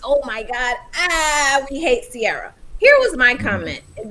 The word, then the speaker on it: Ciara: So everybody is talking about Ciara. That's how you say it. Ciara, yeah.